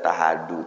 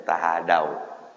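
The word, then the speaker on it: تهادوا: bapak saya sering ngomong jangan dibaca tahadu tahabu bacanya tahadaw ya habis ni ngomong Bacanya tahadau jangan tahadu tahadau tahabu ya kan saling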